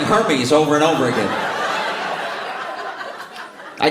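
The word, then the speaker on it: Hermès: It's pronounced Hermes.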